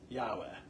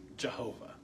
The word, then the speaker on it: Yahweh: But if you use the letters Yahweh, but the Yah they used to think was a J, and the W they used to think was a V, and that's how they got Jehovah instead of Yahweh.